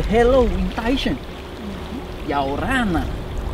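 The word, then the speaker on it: Ia ora na: Yaorana. Ayawana? No. Yaorana. Yaorana? Yeah, you get it!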